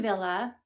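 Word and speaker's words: Wille: So, Ellen Villa Ellen and then Villa is spelled W I L L E. It is a German brand. She's German.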